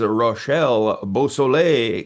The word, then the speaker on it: Rachel Beausoleil: And this is Rashelle Bosle.